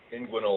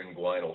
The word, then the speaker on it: inguinal: Yeah, so an inguinal or inguinal hernia, depending on where you're from or who taught you how to say it, is a hernia in